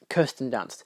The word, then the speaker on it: Kirsten Dunst: But you got uh was it Kirsten Dunce or Kristen Dunst? I always forget how you pronounce her name. Um Kirsten Dunst.